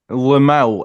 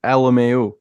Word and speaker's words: Lmao: Was that the case with Nick Lamau? Everyone calls him Nick Lamau, but I thought it was Nick LMAO. No, that's exactly how you're supposed to pronounce it.